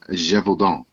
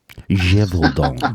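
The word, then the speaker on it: Gévaudan: First off, it's pronounced the Beast of Gevaudan. Gevaudan.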